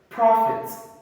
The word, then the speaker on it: prophet: Next, prophet, prophet. Of course, it is mispronounced as prophet, but the correct pronunciation is prophet.